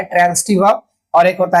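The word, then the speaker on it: transitive: एक होता है ट्रांजिटिव वर्ब और एक होता है इंट्रांजिटिव वर्ब। ठीक है, इसको ट्रांजिटिव मत कहिएगा, ज मत कहिएगा, स कहिएगा, क्योंकि हम लोगों को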